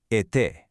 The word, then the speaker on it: été: If you see it, it indicates a closed e sound. This just means your mouth should be slightly closed, your lips stretched a bit, making a sharp, crisp sound like a. Think of the word été, which means summer.